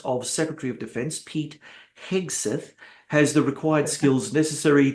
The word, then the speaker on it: Hegseth: Now, from what I understand, and look, I don't want to be too cynical, Hegseth, I can never pronounce his name. Hegseth, right? Hegseth, yeah, that's right, Hegseth.